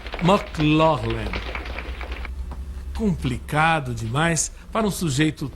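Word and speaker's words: McLaglen: Victor morreria de um infarto em 7 de novembro de 59 e ninguém nunca decorou ou soube direito como era dito seu nome em irlandês. O certo seria pronunciar McLaughlin.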